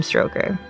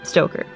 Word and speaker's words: Stoker: the 1987 novel dracula by bram stroker stoker oh god i want to say his name one more time stoker i always want to say stroke i did say it this movie was actually